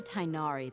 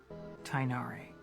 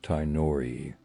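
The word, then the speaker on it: Tighnari: English alphabet works now the GH part which many people pronounce incorrectly is supposed to sound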